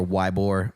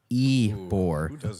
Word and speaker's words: Ybor: to say it right there's like no over why bore its Ybor ye poor thing where they do